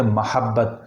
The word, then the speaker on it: محبت: ٹھیک ہے، چلتا ہے۔ لیکن صحیح جو تلفظ ہے وہ لفظ محبت کا صحیح تلفظ ہے محبت، یعنی میم پہ زبر کے ساتھ۔ چونکہ جو لفظ جس